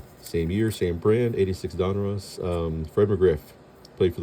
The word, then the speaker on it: Donruss: So, again this is one '86 Donruss, is how you pronounce it, I think.